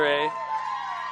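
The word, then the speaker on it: Yray: And Taylor Ray, fun little name as it's spelled, Y-R-A-Y, Ray.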